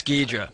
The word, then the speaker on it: Ghidorah: Oh, you're pronouncing it the wrong way. In Japanese, it's Ghidra. Right. But I think in I American, think that it's we called Hydra.